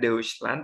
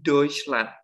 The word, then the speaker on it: Deutschland: baik radio ditandai detailnya jadi cara baca yang bener itu bukan Dewi span tetapi toysland karena memang basicly huruf e UU ketika dia dalam satu kata dan dia bersebelahan gitu ya Ibu ketika kita baca itu bukan uh tetapi jadi oi apapun itu nanti mau